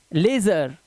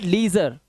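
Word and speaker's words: leisure: N wiggle ये है लेजर क्या है लेजर और यहां पर सर्वेस सर्वेस ए सर्वेस लेजर ठीक है इट्स नॉट लीजर यहां पे लीजर नहीं इसको पढ़ना है लेजर लेजर लेजर ठीक है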